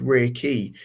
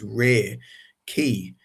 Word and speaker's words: Reiki: this energy and this ray key and that's kind of like how it's pronounced ray and key.